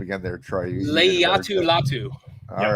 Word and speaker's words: Latu: Why don't you pronounce his name again there, Troy? Latu.